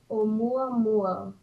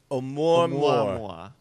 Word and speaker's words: Oumuamua: Hold on, I'm gonna get the pronunciation here. Shut up. Eat. Oumuamua. One more time. All right, let me. Oumuamua. Oumuamua.